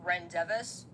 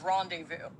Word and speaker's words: rendezvous: If your answer was Rendevis, you're absolutely right. Our education system has failed you. This word is rendezvous.